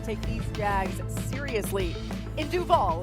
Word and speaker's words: Duval: It's all about what accent you put on the vowel.